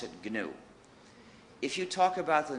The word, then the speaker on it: GNU: this operating system please ignore the dictionary and pronounce it new if you talk about the new operating system you will get people very confused